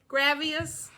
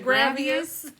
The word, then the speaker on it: Gravois: here's another fun one g-r-a-v-o-i-s gravius I've heard people say gravius Okay up here and